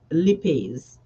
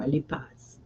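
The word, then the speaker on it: lipase: fat digesting enzyme um lipes or lipas depending on your pronunciation.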